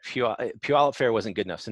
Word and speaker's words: Puyallup: of the Puyallup fair yeah yeah now like Puyallup fair wasn't good enough so now they call